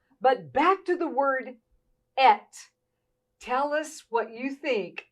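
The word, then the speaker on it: את: It only has 2 letters, and it is pronounced et in Hebrew.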